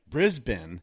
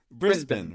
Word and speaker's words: Brisbane: Wait, you're in Brisbane. Isn't that how it's pronounced? Brisbane, right?